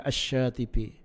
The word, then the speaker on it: Asy-Syatibi: Tulisannya Al-Syatibi, bacanya Asy-Syatibi.